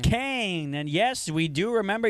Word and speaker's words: Cohen: To Ethan Cohen, number 2 on pronounced Kane.